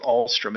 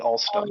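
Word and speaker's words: Alstom: I probably I'm not the only one who calls it Allstrom. It's really All Stone.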